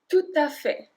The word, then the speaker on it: tout à fait: Tout à fait, tout à fait. And we link tout et à, tout à fait.